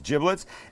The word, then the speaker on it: giblets: little bag this this is the bag of giblets and that's how it's pronounced not giblets it's giblets and in here would be liver would be